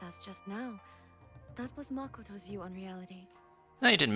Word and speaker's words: Makoto: pronunciations in, because like instead of saying like Makoto, they say Makoto, as in like they stress upon like the different kanji in specific words, which is pretty nice.